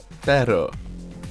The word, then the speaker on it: pero: The difference between perro and perro. I can't roll my R's. Matt, give it a go. Pero, maybe.